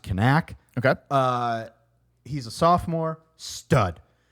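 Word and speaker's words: Knaak: And they have an ace, Aiden, supposedly it's pronounced Kanak.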